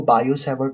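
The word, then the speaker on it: Biot-Savart: बहुत से लोग कहते हैं कि यह 't' साइलेंट है। सही? आपके लिए 't' साइलेंट है। इसे बायो-सावर्ट नियम के रूप में पढ़ें। कुछ लोग इसे बायोट कहते हैं।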